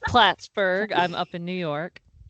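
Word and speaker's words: Plattsburgh: Um Trisha has a BA from Sunni Pittsburgh. I think that's how you say it. I'm It's Platsburg.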